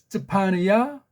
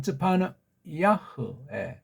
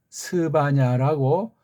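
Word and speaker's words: צְפַנְיָה: 하는데 Y자가 이게 반모음으로 둔갑하더니 오늘날은 I자, 우리 발음으로 I자 비슷한 모음으로 바뀌어버렸어요. 끔찍하다. 쯔파느야, 쯔파느 아흐 또는 쯔파느 야흐. 이걸 이제 우리 엉터리 쪽발이 식민지에서는 스바냐라고 우리 소리가 아니에요.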